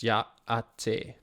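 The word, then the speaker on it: Yá'át'ééh: Yahtehe. I don't know what it means, but sure. If that is Navajo, then the greeting is pronounced Ya'ate.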